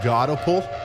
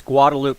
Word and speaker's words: Guadalupe: Gaudapul County. I'll see if that. I'll see if somebody can't help me pronounce that a little bit better. But that's a. It's Guadalupe County.